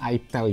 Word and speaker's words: itel: Bacanya itel ya, bukan i.